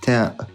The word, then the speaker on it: ت: to pronounce the letter Ta perfectly. The letter Ta is pronounced from the top part of the tip of the tongue when it hits the roots of the upper incisor.